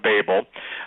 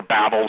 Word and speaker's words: Babel: right back at the Tower of Babel and or Babel some people pronounce it one way some pronounce it the other but the point is